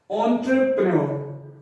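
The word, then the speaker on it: entrepreneur: ऑन्टर, icon enter कभी नहीं बोलेंगे, ऑन्टर बोलेंगे इसको। इसकी आवाज है जो हम ओ निकालेंगे, ओ, ऑन्टर। और ये जो है हमारा आर ई, इसको हमने बहुत ही हल्का सा कटा देना है और इकट्ठा हमने मिला के बोलना है एंटरप्रेन्योर, एंटरप्रेन्योर, एंटरप्रेन्योर,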